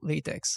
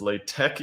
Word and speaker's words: LaTeX: Not to be that guy, but everyone on the internet tells me that it's LaTeX, even if it makes no sense. Like the pronunciation? Yeah. LaTeX. Weird, yeah, huh? yeah, you're right. All my Sensi friends are like, yeah, no, tech. Yeah, no, well, what? No, LaTeX. It's LaTeX. It's your own fault.